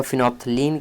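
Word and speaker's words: phenolphthalein: तो यहां पे दोस्तों आपका फिनोफ्थलीन क्या करता है? इसको हम सिंपली बोल सकते हैं फिनोफ्थलीन। बट आपको स्पेलिंग याद रखना है फिनो फिनोलफ्थलीन।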